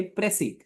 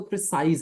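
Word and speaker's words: précis: प्रसी अब इसका मतलब है प्रिसाइज दरअसल इसे प्रोनाउंस ऐसे करते हैं प्रसी लेकिन स्पेलिंग देख तो प्रिसाइज है प्रिसाइज से मुराद होता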